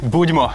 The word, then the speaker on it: Budmo: Budimo. Budimo, okay. All right, so you. I will say three times. Budimo, budimo, budimo. And the people will answer, hey, hey, hey. Okay, and then cheers. Budimo, budimo, budimo.